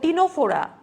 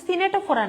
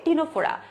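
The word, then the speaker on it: Ctenophora: সি দিয়ে দেখো টিনোফোরা, এটা কিন্তু সিনেটোফোরা না, ঠিক আছে, এটার বাংলা উচ্চারণ কিন্তু মনে রাখতে হবে, সেটা হচ্ছে টিনোফোরা।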